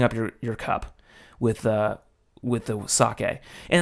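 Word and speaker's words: 酒: Sake, as we Americans say, sake. I'd like to try some sake. Sake, as it's pronounced in Japanese.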